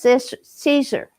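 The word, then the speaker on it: Siser: I believe it's pronounced Caesar, S-I-S-E-R.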